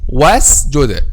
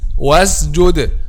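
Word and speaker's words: واسجد: Some people pronounce this letter as if it is letter 𝐬 or 𝐬. How they say like this: وَاسْجُدَ, وَاسْجُدَ, وَاسْجُدَ, وَاسْجُدَ, وَاسْجُدَ, وَاسْجُدَ.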